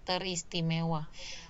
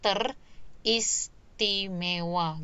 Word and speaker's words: teristimewa: Kemudian ter plus istimewa. Jadi teris. Jadi R, fonem R di prefiks ternya itu bergeser ya, bergeser ke belakang. Itu maksudnya. Jadi teris, ristiwa, teristimewa. Nah, kalau kalau tidak bergeser kan seharusnya dia jadi teristimewa gitu ya. Tetapi kan pelafalannya adalah teristimewa.